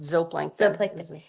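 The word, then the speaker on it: zooplankton: The zop plankton, zoplanton, how do you say it? Z just zoplankton.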